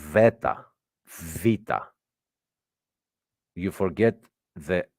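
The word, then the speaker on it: βήτα: the Ala MH and the beta is pronounced V Veta VA you forget the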